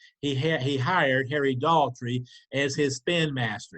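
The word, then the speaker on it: Daugherty: going to be Harry Daltrey Harry Daltrey and it's spelled d-a-u-g-h-e-r-t-y Harry Daughtry is the attorney general he's also the best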